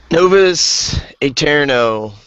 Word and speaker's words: Novus Aeterno: Justin's gonna take eterno novas eterno I think that's how you say it anyways it's one of those AE things um so this game